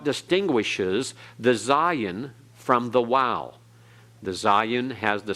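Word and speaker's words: waw: next one the next one is wow transliterated with a W and uh sometimes it's translated with the V for modern Hebrew uh pronunciation in modern Hebrew hebreasts and so the sound is like in WoW or in modern Hebrew it has the sound of a v like in vat okay notice that it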